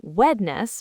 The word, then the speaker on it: Wednesday: Yes, it's the first e, the one after the n. We don't say when est. We crush that n and s sound together. So wedness becomes just ws.